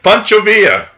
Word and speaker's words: Pancho Villa: Glad you learned how to pronounce Pancho Villa. Pancho Villa.